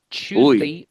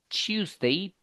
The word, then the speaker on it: Tuesday: Yeah, the pronunciation, remember, is a little bit difficult, but don't you forget, it sounds like this, okay? Tuesday, Tuesday, Thursday, Thursday. Can you see the difference?